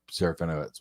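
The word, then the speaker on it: Serafinowicz: okay so the latest one yeah the seraphinox one yeah this is Peter seraphino it's okay that's how you say his last name yes all right I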